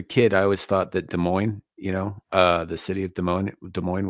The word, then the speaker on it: Des Moines: So when I was a kid, I always thought that Des Moines, the city of Des Moines was pronounced Des Moines, because that's how it's fucking spelled, and I pronounce things phonetically.